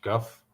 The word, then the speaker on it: Gough: Simon Go and Go. Did I pronounce that correctly? Go. It's Guff? Gough. Guff. Yeah. Guh.